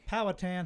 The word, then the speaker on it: Powhatan: Powatan High School. Powatan High School.